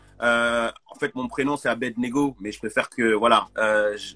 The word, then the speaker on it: Abednego: suis à l'aide en fait mon prénom c'est à berne égaux mais je préfère que voilà je facilite la